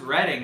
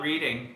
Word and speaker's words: Reading: Pronounced Reading. Oh, it's pronounced Reading. It's not Reading.